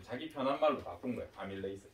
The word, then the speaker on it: 아밀레이스: 아밀레이스 발음은. 영어로는 똑같다. 그래서 전공 영어는 바뀐 게 없는데 한글 표기할 때 이렇게 하자라고 약속을 바꿨어. 선생님도 옛날 사람이 계속 이렇게 말할 수도 있거든. 그러면 아밀라아제라고 해도 아밀레이스구나 이렇게 이해를 좀 해주십시오.